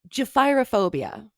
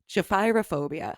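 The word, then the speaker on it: gephyrophobia: learned today i had to look up the pronunciation on this it's japhyrophobia okay japhyrophobia i had to write it out phonetically it's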